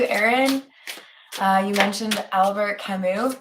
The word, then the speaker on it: Camus: uh you mentioned Albert Camus I'm pretty sure the S is silent there's nothing to come